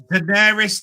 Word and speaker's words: Daenerys: No, it's Daenerys Targaryen. Well, thank you for doing that, pronouncing that.